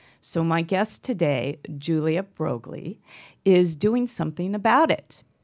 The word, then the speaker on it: Broglie: will you please welcome to my show, Julia Broglie.